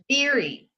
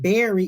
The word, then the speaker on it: Beery: Beery or her last Beery, like beer, like Beery. like a beer. Okay, so I kept saying Berry.